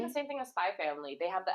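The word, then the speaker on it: Spy × Family: It's just like the same thing as Spy Family. They have the X in between, and no one. Spy X Family. Yeah, you're not supposed to say the X. You're Oh, supposed to say Spy Family.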